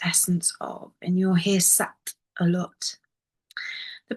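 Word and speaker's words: सत्: And Sat in Sanskrit means the purest essence of, and you'll hear Sat a lot. The pronunciation of it is that the tongue hits the back of the teeth, the roof of the mouth.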